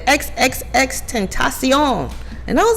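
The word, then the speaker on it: XXXTentacion: know they announce each song and she said X X X 10 ASEAN and I was like oh is he Spanish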